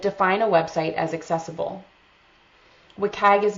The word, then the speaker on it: WCAG: Officially it's pronounced WCAG, but some people say WCAG.